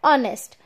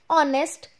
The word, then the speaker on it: honest: is a consonant but when we are pronouncing this word it is giving the sign of a sound of a vowel so we will write an and honest man we are pronouncing